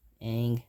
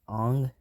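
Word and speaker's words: Aang: another problem is the mispronunciations of eng saga and ira which are ong and uro those are the worst mispronunciations ever that i've seen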